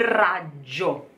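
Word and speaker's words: raggio: very important cold cold Rajjo try cold Rajjo and the GG here Raj Jo you can hear this a little moment of silence like the TT for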